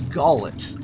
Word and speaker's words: Gullet: off to a stupendous start with with my pronunciation this is gallet and this is not a play by the